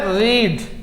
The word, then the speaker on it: read: अब क्या करने वाले, जरा देखिए, इसे हम लोग क्या पढ़ते हैं, रीड, बट इसे हम लोग क्या पढ़ते हैं, रेड, और इसे हम लोग क्या पढ़ते हैं, रेड।